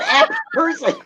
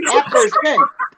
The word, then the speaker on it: Apperson: Why not app person? Because it is not app person. It's Apperson.